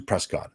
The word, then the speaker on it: Prescott: I may say Prescott as opposed to Prescott. Again, residents of the area will use the 2 terms interchangeably, the pronunciations.